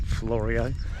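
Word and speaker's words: Fleurieu: down here on the Florio Peninsula, and I hope I'm pronouncing that correctly. We did ask a guy and he said pronounce it Florio.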